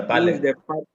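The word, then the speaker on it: Baale: I came across the use of the Bale, which is spelled B-A-A-L-E. Yeah, Bale.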